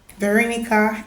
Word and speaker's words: Veronica: My name is a Latin name actually, and it's pronounced Veronique. Veronique in French, Veronica in English.